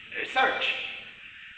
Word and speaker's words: Search: Search. Oui. Mon père était irlandais. Oh, comme ça se prononce. Avec S, E, A, R, C, H à la fin.